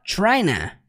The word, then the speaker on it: trying to: Quando ele fala trying to, ele simplesmente contrai para tryna.